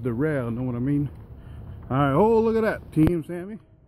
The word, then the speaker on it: Daryl: Spelled Daryl, but it's pronounced Darrell, know what I mean?